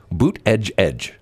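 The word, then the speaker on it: Buttigieg: of his aides said here's how you pronounce his name boot and then edge twice boot edge edge which in you know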